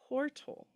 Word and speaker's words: Tortle: Tortle. Not Like tortellini.